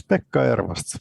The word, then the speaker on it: Pekka Ervast: Yes, Pekka Ervast. You pronounced it pretty well.